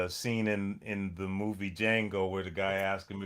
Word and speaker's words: Django: in in the movie Django where the guy asked him if he knew how to spell Django and he said the D is silent because that's what Retoan Hill told me one day.